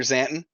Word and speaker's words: Xanton: That's how it's spelled. Commander Xanton.